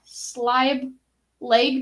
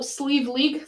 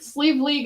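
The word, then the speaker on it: Sliabh Liag: one is my favorite uh single malt from slime leg distilleries oh oh sleeve league sleeve league is how it's pronounced thank you from donegal ireland 22 parts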